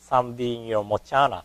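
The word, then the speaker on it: Saṃdhinirmocana: Samdhi Niromochana Sutra. In Sanskrit, when we pronounce CA, it becomes the sound cha.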